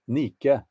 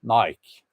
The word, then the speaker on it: Nike: Nike um Nike why do I say Nike nicke is actually the correct pronunciation but anyway American Nike Nike um so they had this uh man